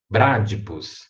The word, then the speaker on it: Bradypus: não é bradypus e não é bradypus é bradypus aumenta o tom na primeira sílaba bradicus né para de